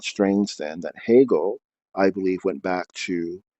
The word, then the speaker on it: Hegel: to hot gel which the h e g e l uh the e the ease and hegel are pronounced as a's if they were pronounced in their latin way and is a blessed